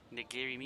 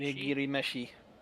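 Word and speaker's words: 握り飯: Nigiri mishi. Nigiri meshi. See, for someone that doesn't know Japanese, trying to pronounce things.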